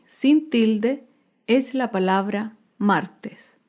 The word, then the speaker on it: martes: Por último, otro ejemplo de palabra grave sin tilde es la palabra martes. Martes se acentúa en la penúltima sílaba, pero no lleva tilde porque termina en S.